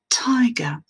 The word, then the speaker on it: tiger: Et comme le son T est à l'initiale du mot et qu'il est dans une syllabe accentuée, on va avoir ce qu'on appelle une aspiration en prononçant ce son T.